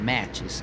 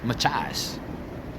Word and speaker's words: Machias: I know it's not Machias. And he says it's Machias. Machias. He said it's something to do like an Indian name.